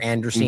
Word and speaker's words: Andreessen: That's that whole like Andreessen or Anderson. I always called him at first, but Andreessen, I guess how you say it, Mark Andreessen and